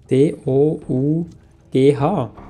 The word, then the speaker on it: dough: auch drauf nicht wie sagt man dem inina d o u g h falsch ausgesprochen oh ich höre hö nicht Cookie ja